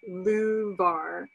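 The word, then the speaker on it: louvar: And he says it's the luvar. It's spelled L-O-U-V-A-R.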